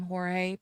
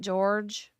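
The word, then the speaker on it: Jorge: Torres now I know a lot of people pronounce this name Jor but she herself pronounces it George so I'm going to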